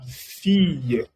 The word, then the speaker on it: fille: La fille. En francés, cuando doble L está precedido de una I, se pronuncia Y. Así que esto no se pronuncia la fille, se pronuncia la fille.